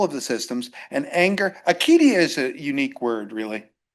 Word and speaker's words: acedia: And anger, acedia is a unique word, really. I don't know why people call it it's spelled with a C, because it's a kappa in Greek.